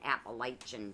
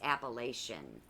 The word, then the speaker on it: Appalachian: old white dummy Appalachian I keep saying Appalachian Trail it's appellation yeah yeah dummy okay not